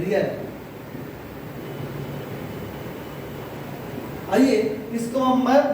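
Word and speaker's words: riyal: और करेंसी की बात करेंगे तो करेंसी का रियल, करेंसी इसका उच्चारण रियल।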